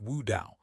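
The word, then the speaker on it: 雾刀: In Chinese, mist blade is pronounced Wu Dao, almost exactly as the pronunciation of Tao enlightenment, which is Wu Dao.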